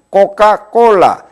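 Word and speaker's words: Coca-Cola: 상표가 있는데 이와 같이 스페인어식으로 발음을 하면은 뚝뚝 부러진 형태로 코카콜라 이와 같은 형태의 발음 구조가 되는 것이죠.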